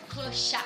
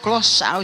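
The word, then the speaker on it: clochard: Como é que pronuncia isso aqui? Calça? Clochá. Clochá, gente.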